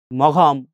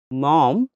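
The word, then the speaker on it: Maugham: এবার একটু পস টাইপের তারা আম্মুকে কি বলে বলতো মম বলে উচ্চারণ কিন্তু কি মম ঠিক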